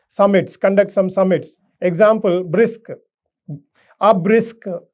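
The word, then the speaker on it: BRICS: conduct some summits example brisk a brisk so there is a bar sound so brisk we are we are not reading br i cs so that if you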